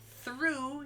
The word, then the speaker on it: through: not through yet now we have the long u sound o-u-g-h makes through like to go from one end to the other or to finish something completely he drove through the tunnel or when i ate all the food i told them i was through this is the through t-h-r-o-u-g-h it looks like throughout it's not it's through why because english makes